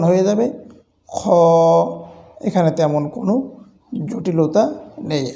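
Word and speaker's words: خ: থেকেই উচ্চারণ হয়ে যায় তবে কেউ কেউ খা বলে থাকি খা বলে আরবিতে কোন হরফ বা বর্ণ বা অক্ষর নেই এটির উচ্চারণটি হবে খ এরপরে আসুন তারপরের হরুফ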